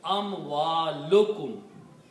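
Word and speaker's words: أموالكم: So if we combine these two words, amwalun and kum, then by the combination, one dhamma is not pronounced. So it becomes amwalukum.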